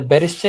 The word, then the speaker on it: Bericht: Der Berichte ist auf dem Tisch. But it's not berishta. Berishta is plural. Berisht. Der Bericht.